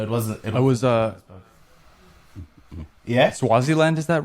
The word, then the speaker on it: Swaziland: It was yeah, Swaziland, is that right? No. Am I pronouncing that right?